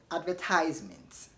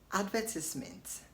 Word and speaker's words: advertisement: Did you say advertisement or advertisement? You want to sound American if you said advertisement, and if you said advertisement in British English. So in British English they pronounce the word as advertisement. In American English they say advertisement. So either way you are correct.